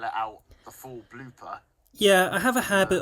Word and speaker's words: BLPR: I'll put in BLOOPER, just so people know that's how you pronounce it, even though it's spelt BLPR.